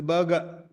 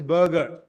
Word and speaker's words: burger: find a ER but here the r is silent so it's a burger whereas in America is a burger so that R is